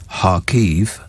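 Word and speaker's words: Kharkiv: warwickshire 18 months ago her home city is harkev as i now understand you pronounce it and she's been arranging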